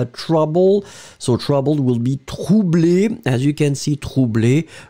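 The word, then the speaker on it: troublée: You will add this in the end for the feminine, but still you don't pronounce it. So phonetically, it will be the same. Troublé, masculine. Troublé, feminine.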